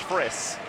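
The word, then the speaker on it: Frys: So Paul Friss, his name is spelled F-R-Y-S, but it's pronounced Friss. You want to say Fries, though.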